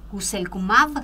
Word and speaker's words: guselkumab: cada 10 pacientes que recibieron guselkumab, ¿se llama? ¿Es así? ¿Lo pronuncié bien? Así es el nombre, muy bien.